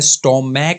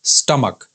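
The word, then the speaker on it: stomach: है वो है स्टमक छोटे बच्चे अक्सर गलती कर जाते हैं अगर यह शब्द उनके सामने पहले बार ए जाता है तो छोटे बच्चों को लगता है की यह शब्द है स्टॉर्म मैक है या स्टमक है या स्टमक है लेकिन ये शब्द ऐसा नहीं है यह है स्टमक स्टमक अगला जो शब्द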